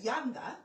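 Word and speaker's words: Llanada: And it's Yanda. If it's L-L-A-N-D, it's Yanda, not Yanda.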